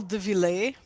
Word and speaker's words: Deville: It's pronounced uh dele. Yeah. Even if it has two L's. It's not, it's dele.